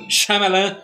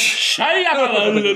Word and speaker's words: Shyamalan: Shyamalan. M. Night Shyamalan. Ele tem várias pronúncias pro nome Não, dele.